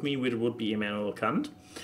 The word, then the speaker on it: Kant: No, but there's actually one that resonates well with me, which would be Immanuel Kant.